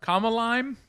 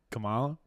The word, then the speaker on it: Kamala: Comma lime 2024? I don't know what that means. Oh, like Kamala?